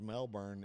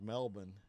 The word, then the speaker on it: Melbourne: But I will tell you, I know it's not pronounced Melbourne, it's pronounced Melbourne. Uh y'all have taught me that.